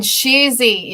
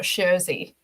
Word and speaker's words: Sheezy: And Sheezy is Sheezy, not Sherzy. Sheezy.